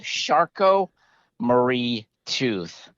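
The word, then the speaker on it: Charcot-Marie-Tooth: from so it's an interesting name it's called sharko marie tooth and i'll spell that it's c-h-a-r-c-o-t dash murray m-a-r-i-e dash tooth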